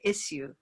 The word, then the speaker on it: issue: And I had to remind myself that, you know, British speakers of English will say issue. Oh. With a y there.